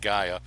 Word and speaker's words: Gaia: 20% off the Gaia, G-Y, well, phonetically it's G-U-Y-A, Gaia, and also Solgar, S-O-L-G-A-R.